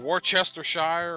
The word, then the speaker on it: Worcestershire: It's not Worcestershire, it's pronounced Worcestershire. Look how it's spelled. Okay, Todd, whatever. Everybody calls it Worcestershire. Even though it's spelled Worcestershire, and I'll agree with you that it's spelled Worcestershire, but that's not how people say it.